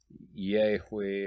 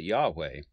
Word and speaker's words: Yahweh: But I'm going to pronounce it Yahweh, and I'm going to do that because I want to personalize this.